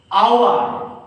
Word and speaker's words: hour: hour okay here h the word starts with consonant h but actually it does not take before this word and because here the pronunciation age just like our industry memory our that sounds like okay so you should say n hour not okay please forgive